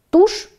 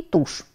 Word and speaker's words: тушь: оканчивающихся на шипящие звуки Давайте сравним два слова тушь и тушь произносится эти слова совершенно одинаково А вот разъяснить смысл